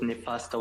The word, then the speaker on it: Nifasto: And it is very important to pronounce it with Nifasto with an S rather than with a double T.